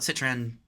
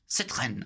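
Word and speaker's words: Citroën: A lot of people call it Citroen. Citrren, I believe. You got to get that at the back of your throat.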